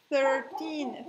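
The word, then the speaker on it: thirteen: 13. 13. Es, la TH es como si yo me fuera a morder la lengua. Pongo la lengua entre los dientes y boto aire.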